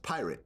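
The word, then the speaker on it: PYRT: a new company yeah called py RT yes pronounced pirate yes which of course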